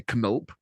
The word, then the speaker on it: Knulp: We've all read a translation of it, so I'm presuming it will be pronounced with a K. Knulp. Germans pronounce every letter they see, so Knulp.